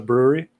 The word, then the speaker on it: Bruery: The brewery. Oh, the brewery. Yeah. Okay. But it's spelled just that one. Yeah. Okay. Well, it's called the brewery, but it's BRUERY. Oh, clever.